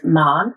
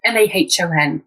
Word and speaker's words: Mahon: So my name is Mahon, Mahon. So it's Irish, but we pronounce it the English way. So a bit strange.